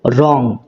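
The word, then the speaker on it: wrong: ভুল তো এখানে দেখো রং এই শব্দটার ডাবলিউ এই লেটারটা উচ্চারণ হচ্ছে না।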